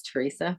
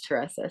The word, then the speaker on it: Teresa: it's how you say my name is Teresa so I know people think it's Teresa but it's Teresa so you for letting